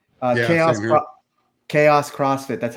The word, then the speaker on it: Kaos: Chaos CrossFit.